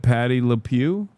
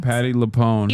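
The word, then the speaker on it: Patti LuPone: Why are people mad at Patty Lew? Leone. I'm sorry. Leone. Patty Leone.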